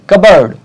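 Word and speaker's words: cupboard: कबर्ड P silent है.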